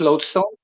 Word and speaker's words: lodestone: a it's spelled l-o-d-e load song but it's pronounced lodestone so it right it's a naturally occurring magnet